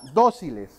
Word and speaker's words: dóciles: estamos hablando de que esta palabra dóciles dóciles tiene su sílaba tónica en esta parte y es una palabra aguda grave o esdrújula es esdrújula verdad muy bien por lo